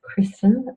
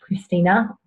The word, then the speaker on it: Kristen: My name is Kristen, not Christina, Kirsten or Christine, or the many other options of my name pronunciation that I get.